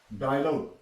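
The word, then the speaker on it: dialogue: भी यू के बाद ई आएगी और you silent डायलॉग डायलॉग डी आई ए एल ओ जी य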